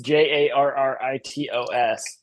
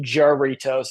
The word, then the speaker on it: Jarritos: Well, it's Jarritos, and he pronounced it Jarritos, and I was like, dude, you lived in Puerto Rico, That's kind of like saying jalapenos, eh?